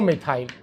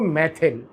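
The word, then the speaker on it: methyl: अपन बोल देंगे 2 मिथाइल। Pronunciation में जैसे मैं मिथाइल बोल रहा हूँ, ऐसे ही हिंदी में अगर कहीं आपको लिखा होगा तो आप पढ़ोगे उसको मैथिल, ठीक है। अपन मिथाइल ही बोलेंगे।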